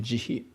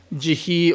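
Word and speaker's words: 慈悲: we have a word this is my Japanese pronunciation jihi which is a origin of the English translation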